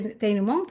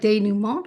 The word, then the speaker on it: denouement: I mean, it's like denouement or denouement. You could drop the T where the Denouement. T isn't Yeah, yeah, enunciated.